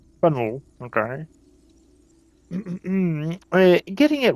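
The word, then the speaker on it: Faneuil: Don't let the French spelling confuse you. The name of this building is pronounced pan or fennel. Fenel.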